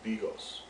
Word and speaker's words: bigos: make Hunters 2 or pronounced in Polish as Bigos it's a perfect dish